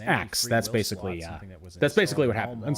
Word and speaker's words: ask: So in the episode Xmas story, they established that in the future it's pronounced ax and not ask.